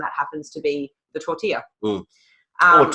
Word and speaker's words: tortilla: the least and that happens to be the tortilla or tortilla if you want to be a gringo yes